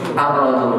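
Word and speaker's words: الرجل: Rojulun, rojulun. Dimasuki alif lam. Kita bacanya bagaimana tadi? Ar-rojul. Biasanya diberikan tasydid.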